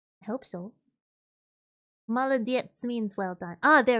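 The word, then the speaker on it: молодец: Maladets means well done. Oh, there we go. Malett means well done. Oh, I know that one. Malett.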